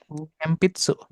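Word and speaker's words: 鉛筆: sama orang gitu ya ini dibacanya adalah m pitsu pakai m mempitsu.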